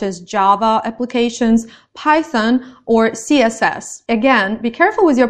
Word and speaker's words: CSS: Java applications python or css again be careful with your pronunciation it's python it's CSS you have to read the letters separately and it's Java in